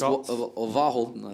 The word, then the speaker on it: Verhalten: It's Verhalten, I think. Oh, it's a V, so it's a W.